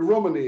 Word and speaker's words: Romani: wife and I uh the word Romani is very often used and pronounced with English accent but actually you pronounce it as Romani as he's the only person in the UK who I heard pronounced this word properly Romani right um and it's